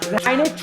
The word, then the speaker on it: Heinisch: Heinisch?